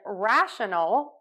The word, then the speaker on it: rational: the ending syllables here in rational we're going to use that schw again relax open mouth relaxed tongue in the middle of the mouth oh for rationale we're